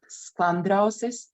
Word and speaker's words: Sklandrausis: So this is called Sklandrausis. Even Latvians have problems to pronounce it.